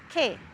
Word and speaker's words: che: We would say K, which means what, or that. And so that would be C-H-E, K.